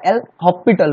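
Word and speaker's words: L'Hôpital: है एल हॉस्पिटल rule, उसको लिखते हैं हॉस्पिटल रूल, पर उसको प्रोनाउंस किया जाता है एल हॉस्पिटल रूल, तो एस साइलेंट होता है वहां पर।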